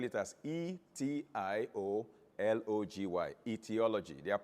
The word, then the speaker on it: etiology: known as etiology the english british english we spell it as a e t i o l o g y but american english will eliminate the a and